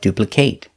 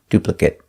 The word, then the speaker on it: duplicate: to know the pronunciation if it's a verb pronounce it with the long a like duplicate if it's not a verb pronounce it with a short sound duplicate if you like this